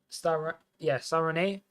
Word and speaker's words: Stade Rennais: The Belgian center back moving from Stade Rennais. Stade Rennais, I believe it's pronounced.